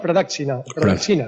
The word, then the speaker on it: Pradakshina: me perdone la pronunciación, Pradaksina. Y bueno, Pedro, ¿es así o no es así? Te contestaré sí, se llama Pradaksina. Sí.